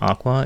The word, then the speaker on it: Aqours: Trio lineup the name Aqua is a combination of aqua and ours while the spelling is at least when you pronounce it it is just Aqua muika koizumi member of